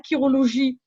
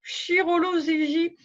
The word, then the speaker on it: chirologie: C'est pour ça qu'on ne dit pas chiromancie ou chirologie, comme on pourrait le croire pour chirurgien. Non, non, non. On dit chiromancie, chirologie, comme un chiropracteur aussi.